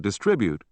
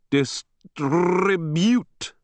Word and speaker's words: distribute: comrades became comrades and distribute which they had known how to pronounce all their lives was twisted into distribute with the accent on the last instead of the second syllable a mannerism which they